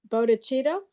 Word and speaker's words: bodhicitta: about that today, but the bodhicitta, I'm not pronouncing that correctly. Is that? No, you did. You've said it right.